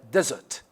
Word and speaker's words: desert: and we have uh desert desert desert desert okay desert now it is on the first syllable we have dessert dessert